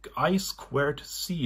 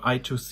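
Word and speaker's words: I²C: two two others are i i squar c is the correct pronunciation or I Toc it is written this is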